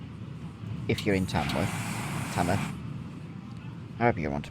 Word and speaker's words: Tamworth: I use Tamworth because I grew up there. And that is the local way of saying it. You don't pronounce the W.